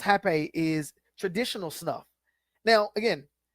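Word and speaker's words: rapé: So rape, pronounced hape, is traditional stuff.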